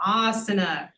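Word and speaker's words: आसन: So when there's a long vowel, you put the emphasis on the long vowel, asana.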